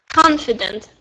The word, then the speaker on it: confident: The difference is under stress. Confident.